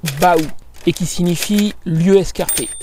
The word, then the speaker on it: baou: ça voilà c'est mieux le nom provient du mot provinçal Baou qui s'écrit B a u mais qui se prononce donc bien Bou et qui signifie lieu